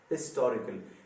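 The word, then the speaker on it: historical: अब ये H sound prominently सुनाई देने लगता है, जहां भी आप जाएं, दुनिया के किसी भी खित्ते में आप जाएं, हिस्टोरिकल एच के साथ प्रोनाउंस होता है।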